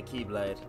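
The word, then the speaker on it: χ-blade: a Keyblade and a Keyblade. No. I mean the Keyblade as in X-Blade, but it's pronounced Key, because Nomura is a madman. Chi, exactly. The Greek letter Chi. Yeah, Kai. The Kai Blade.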